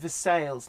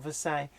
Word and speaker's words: Versailles: real Twitter verse a Kentucky is pronounced the sales not Versailles to know why but